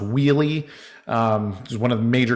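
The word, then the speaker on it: Wuille: guys like i peter it's pronounced wheelie um one of the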